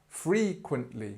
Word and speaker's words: frequently: to say this word so free this is where the stress is frequently frequently again we got the schah this sound which is just frequently frequently asked questions and